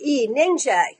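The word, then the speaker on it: Nyingje: Okay, so the name is spelled N-Y-I-N-G-J-E, Ningjay.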